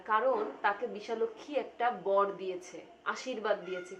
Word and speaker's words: বিশালাক্ষী: কোথাও সে নাই বলতেছে বিশাল অক্ষী দিয়েছিল বর সরি উচ্চারণটা হবে বিশালাক্ষী বিশালক্ষী মানে কি বিশাল যোগ